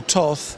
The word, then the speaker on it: Toth: on the right track Daniel Toth who I'm told you pronounce it tot in in in Hungary I'm told this um